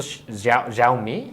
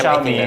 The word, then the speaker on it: Xiaomi: So Xiaomi. Xiaomi. No, Alfonso knows how to pronounce it.